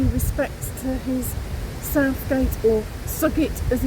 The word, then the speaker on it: Southgate: Dan and I are here today at Great Snoring Churchyard to pay respects to his Southgate or Sugit as it's pronounced ancestors which I discovered about 14 15